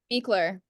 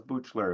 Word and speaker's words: Buechler: Beekler. Beekler. I wasn't going to there. I was Butchler is what I was going for.